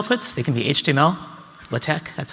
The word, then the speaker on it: LaTeX: Table outputs, they can be HTML, LaTeX, that's how I pronounce that, and RTF.